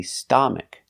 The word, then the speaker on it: stomach: It's not an a. It's a short sound. Uh like cup and up and cut. Uh u st stomach. Stomach. Put the stress on the first syllable.